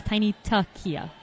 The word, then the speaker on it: Tiny Tuckia: All right, I have unfortunately been pronouncing Tiny Tuckia's name wrong. It is Tiny Tuckia.